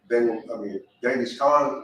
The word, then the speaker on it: Genghis Khan: So, but Genghis Khan, or Chinggis Khan, however you want to pronounce it.